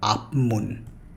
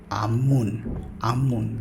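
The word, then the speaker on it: 앞문: Here, beginner level learners pronounce it like apmun, but it's not apmun, it's amun. This p sound will change to amun.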